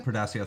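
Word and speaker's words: Portacio: Was I can never pronounce his name. Portasio, thank you.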